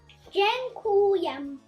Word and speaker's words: dziękuję: Another important word is thank you, which in Polish is dziękuję. So this E is pronounced G.